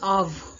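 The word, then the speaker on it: אב: இதை நம்ம பா, இது பேத் தான், ஆனால் நம்ம வந்து பா யூஸ் ப்ரொனவுன்ஸ் பண்ணக்கூடாது. இது வந்து டாகேஷ் லினே இல்லாதனால நம்ம இதை எப்படி ப்ரொனவுன்ஸ் பண்ணணும்? இவ், அதாவது ஆவ், ஆவ் தோவ், எ குட் ஃபாதர்.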